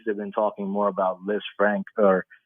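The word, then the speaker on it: Lisfranc: in his case they've been talking more about LZ Frank or it's actually pronounced LZ Fran but people tend to say LZ Frank it's named after a a French surgeon that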